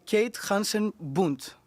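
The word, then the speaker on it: Kate Hansen Bundt: Forum, and I'm thrilled to be joined by Kate Henson-Bundt. Am I pronouncing it correctly?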